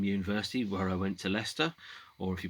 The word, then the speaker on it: Leicester: just graduated from university where i went to leicester or if you pronounce it phonetically lycester graduated from the de montfort university also known